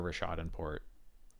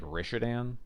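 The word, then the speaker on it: Rishadan Port: weird I feel like I hear Rashad in Port pretty regularly I definitely sometimes hear like rishadan but I think that's more the exception for me oh is this a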